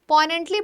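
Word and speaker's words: poignant: तो इसको बोलते हैं पोइनेंट। ग साइलेंट होता है पोइनेंट। ऐसे बोलना। बहुत ही ज्यादा सैडली हार्ट ब्रेकन।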